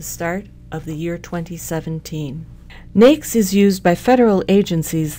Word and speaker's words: NAICS: overview of the North American industry classification system pronounced NES NES was developed cooperatively by the governments of